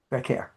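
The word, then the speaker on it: Vaquer: How do you pronounce her the name? care. Vacquer, yes.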